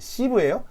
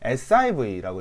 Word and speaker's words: SIV: 시브예요? 시브? 아닙니다. 시브라고 읽으면 안 돼요. SIV라고 읽어주시면 되고, 이 친구는 뭐라고 하냐면 정지형 인버터라는 말을 씁니다.